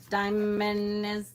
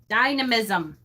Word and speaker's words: dynamism: Coastal Animus had the proper pronunciation of dynamism.